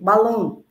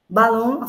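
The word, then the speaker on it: balón: vão acentuar por exemplo balon balon foi acentuado porque tônico é long e terminou em n por isso que eu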